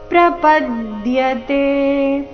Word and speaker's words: ಪ್ರಪದ್ಯತೆ: ಆಘಾತ ನಾಮಂತೆ ಜ್ಞಾನವಾನ್ಮಾಮ್ ಜ್ಞಾನವಾನ್ಮಾಂ ಪ್ರಪದ್ಯತೆ ಪ ಮೇಲೆ ಆಘಾತ ಪ್ರಪದ್ಯತೆ ವಾಸುದೇವ ಸರ್ವಮಿತಿ ವಿಸರ್ಗದ ಉಚ್ಚಾರಣೆ